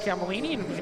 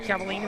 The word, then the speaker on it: Cavallini: the 29th see the hockey team pronounced Cavallini mentioned earlier in the broadcast we just warning us how it's Cavallini this is temporary number